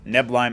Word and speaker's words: Neblime: it is apparently pronounced neim as in the first syllable is neb and not NE but uh who would